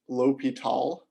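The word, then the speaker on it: L'Hôpital: is l'hopital's rule so it's spelled the hospital's rule but this is pronounced l'hopital and so the idea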